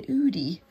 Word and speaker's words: Oodie: excuse me I've also got myself um an Udi uh have you guys seen those I do love wearing oversized hoodies but it's udies um spell it's o d i e um